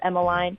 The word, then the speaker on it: Emmaline: if you look up Emeline which it's spelled EMM a li n e does like it sounds Emeline and then shy it